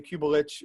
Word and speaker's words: Cubelic: So Cubelic is Croatian name. Cubelic would be the correct pronunciation.